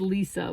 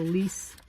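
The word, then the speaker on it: Lise: destination oh my gosh I said Lisa but her name is spelled l i s e so leis how was this written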